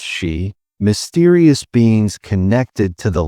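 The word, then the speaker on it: Sidhe: Here the people spoke of the Sidhi, pronounced she, mysterious beings connected to the land itself.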